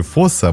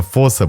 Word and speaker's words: фосса: Название фоса происходит от малагасийского слова и произносится с долгим «о».